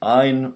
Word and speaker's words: Ayn: That's Ayn rhymes with mine, not Ain, it's not Anne, it's not Ayn, like mine, possessive.